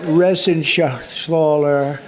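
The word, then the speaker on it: Reschenthaler: You know that Resenshaw. That's actually the way you pronounce it, you know.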